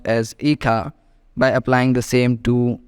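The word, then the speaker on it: hija: in Spanish pronounced as Ika by applying the same two rules of pronouncing word and a Spanish that is H is silent and J is pronounced as k h so it is written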